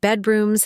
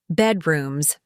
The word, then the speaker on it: bedrooms: The word bedrooms has stress on the first syllable. Bedrooms, not bedrooms.